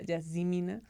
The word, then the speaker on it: Yazemeenah: Y está conmigo Yasmina Rossi, que en realidad se pronuncia Yasmina.